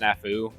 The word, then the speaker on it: SNFU: But it's a cover of Painful Reminder by, it's probably supposed to be pronounced Snafu, but it's SNFU.